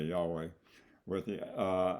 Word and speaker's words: Yahweh: um yod wave and there is a uh quite a bit of difference on how it should be pronounced and but U most of the Sacred name assemblies agree that Yahweh is about as close as he as we know to get to it yua stated emphatically that